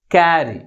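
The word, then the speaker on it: carry: దీన్ని ఎలా పలుకుతాం మనము క్యారీ క్యారీ అంటే ఏ సిలబల్ మిగిలిన సిలబల్ కంటే ఎక్కువ ఫోర్స్ గా పలుకుతుంది ఫస్ట్ సిలబల్ సెకండ్ సిలబల్ కంటే ఎక్కువ ఫోర్స్ గా పలుకుతుంది కాబట్టి the primary stress is ఆన్ the first syllable this is main word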